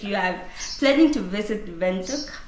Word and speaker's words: Windhoek: so guys if you have planning to visit vuk it's a m have you heard how she pronounces it you been saying windh windh windh